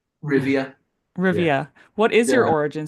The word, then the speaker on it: Rivia: uh is it it's it is said like Rivia right Rivia Rivia what is your